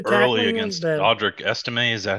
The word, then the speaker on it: Audric Estime: Audric Estime, is that how you pronounce it?